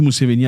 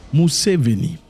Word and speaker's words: Museveni: Museveni, pas Museveni, Museveni c'est en français, Museveni, Yoweri Museveni. Il ne faut pas franciser les noms, c'est pas bien. Gardez votre nom authentique comme prononcé chez vous.